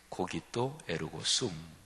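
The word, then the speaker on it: cogito ergo sum: 이런 명제 요 어 라틴어로 한번 발음을 해 보면 유명하죠 고기 또 에르고 숨 이렇게 발음이 되죠 저는 옛날에 고등 하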